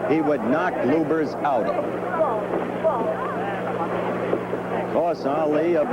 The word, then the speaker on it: Lubbers: Indonesia Mohammad Ali against Rudy LS or lubers it's pronounced both ways luers is probably more technically correct anyway it's the way Rudy wants it said see how